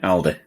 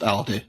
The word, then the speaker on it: Aldi: a cheap supermarket okay Aldi right so is it pronounced Aldi or is it pronounced Aldi depends where you are all right should it